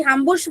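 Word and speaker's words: Hamburg: हामबुर्ग, हामबुर्ग की भी हामबुर्ग बोल लो या हामबुर्ग, दोनों प्रोनाउंसिएशन है, उसकी भी सेम है.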